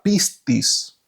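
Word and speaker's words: πίστις: eh la fe en griego eh se se pronuncia pistis y se escribe Pues en de forma en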